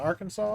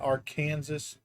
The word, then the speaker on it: Arkansas: Hey, we're crossing the Arkansas River. That's right. It's Arkansas, not our Kansas.